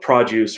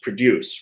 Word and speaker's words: produce: like we talk about produce versus produce right uh yeah well that's a good example of how just the word stress the by stressing a different vowel it becomes a different different word exactly although the words